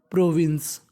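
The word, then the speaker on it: province: आई एन सी ई प्रोविंस प्रोविंस मैं आपको बता दूं अगर इंग्लिश का जो आखिरी लेटर है वह है हमारा ई तो ई का उच्चारण हम लोग नहीं करते प्रोविंस का मतलब होता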